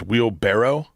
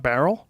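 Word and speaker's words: wheelbarrow: did you know it's it's wheel barrow it's not Barrel uh-uh it's wheel barrow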